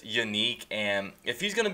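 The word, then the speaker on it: Yannick: people's names wrong and everyone pronounces Yanik and's name as yannik but he said on jagar today that is unique and if he's going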